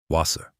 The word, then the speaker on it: Wasser: Mistake one, pronouncing the w like an English w, it's not. It's always a v. Wasser Mistake two, turning the soft ch into sh.